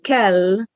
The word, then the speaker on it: kell: And then kell with a long L means must or have to.